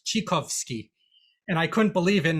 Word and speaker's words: Tchaikovsky: teacher telling us that tchaikovsky's name is not actually pronounced tchaikovsky it's actually pronounced chikowski and i couldn't believe